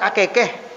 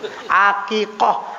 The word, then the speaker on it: akikah: Jadi kata bapak ini, oh, ini doa akikah bukan akekeh. Bukan, fathah bukan kasroh, kata santri itu. Akikah artinya akikah untuk bayi yang baru lahir.